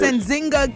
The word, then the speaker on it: Nzinga: jingle king all right so her name is anzinga king and now this situation happened uh last